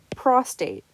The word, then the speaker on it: prostate: you pronounce them incorrectly for example prostate it's pronounced pros tate which is referring to the gland at the base of the male bladder and this the term